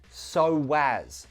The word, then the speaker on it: so as: So as. We link those two with a w sound. So as, so as, so as to.